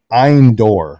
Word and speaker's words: Endor: and indoors actually i'm eindor which is how it's pronounced in hebrew so there's again no